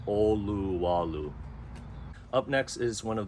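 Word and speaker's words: Olowalu: first towns you'll hit is oluwalu and it's pronounced oluwalu up next is one of the oldest towns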